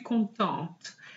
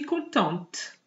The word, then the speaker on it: contente: So normally, the T is silent at the end, but if you have an E after it, you have to pronounce it.